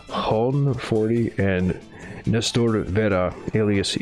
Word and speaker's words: Johan: J is a H sound, and then H is silent in Spanish. Hon 40 and Nestor Vera, alias Ivan Mordisco.